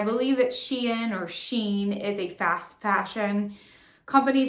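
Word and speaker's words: SHEIN: have a sheen or I thought it was she in because it's spelled as a capital letter s h e capital letter I and so I thought was she in but I think it's Sheen correct me if I'm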